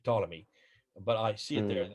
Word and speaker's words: Ptolemy: second century a.d ptolemy you don't pretend you don't uh pronounce his let his first letter p just say ptolemy but i see it